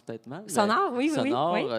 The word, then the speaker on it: Sonor: Sonor, oui. je pensais que c'était anglais. Sonor. C'est allemand.